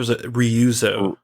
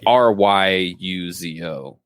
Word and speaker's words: Ryuzo: too i don't know it's r-y-u-z-o so it's really like i mean if we're doing super white pronunciations that would be ryuzo least favorite mission